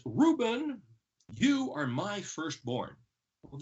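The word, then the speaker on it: ראובן: So the word Reuben is spelled Resh Aleph Vav Bet Nun, pronounced Reuben.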